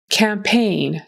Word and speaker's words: campaign: Campaign. Campaign. So, this first syllable is really important. This first vowel, it has to be an a. Campaign. Almost like going camping. Make sure you get the good cam.